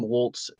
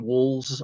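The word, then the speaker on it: Walz: their presidential candidate um Tim Waltz Tim Walls I believe it's pronounced is going to be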